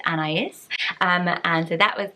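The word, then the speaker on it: Anaïs: Anais and I said an ace and I love the name so much I always thought it was an ace but it's an is um and so that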